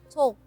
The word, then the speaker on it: talk: So how about talk? Talk. TALK. Yes, you just say you know as what you can see from that word, talk. Yes, without L. reducing it or without Oh. omitting, Okay.